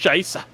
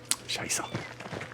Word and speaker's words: Scheiße: The language, boy, don't you know it's pronounced Scheisse? Scheiße.